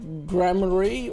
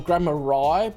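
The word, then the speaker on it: Gramarye: Zach Grammary or Grammari, because it's spelled R-Y-E on the end. I feel like it should be pronounced rye, like rye bread, but anyway.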